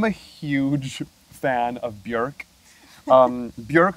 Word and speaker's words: Björk: Björk, whose name rhymes with work, not fork.